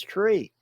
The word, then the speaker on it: trie: It was invented in the 1960s by a French guy, so the true pronunciation is tree.